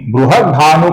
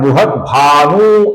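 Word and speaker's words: बृहद्भानु: बृहत भानु का जो न है दोस्तों इसका हमें ह्रस्व होने के कारण थोड़ा छोटा ही उच्चारण करना है। कुछ लोग इसका उच्चारण बृहत भानु ऐसा दीर्घ करते हैं जो कि गलत उच्चारण है। इसका हमें ह्रस्व उच्चारण करना है। छोटा उच्चारण करना है। बृहत भानु ऐसा उच्चारण होगा।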